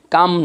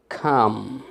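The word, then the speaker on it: come: আমি কিন্তু কাম here বলি নাই, কাম নয়, বলবেন খাম, খাম, কাম হিয়ার।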